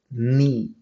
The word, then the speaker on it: knee: Same way, the word is pronounced as knee, not kidney.